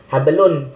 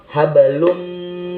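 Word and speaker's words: حبل: huruf mim cara membacanya jadi bacanya tidak hablun tapi hablum min Mas Adin disini tidak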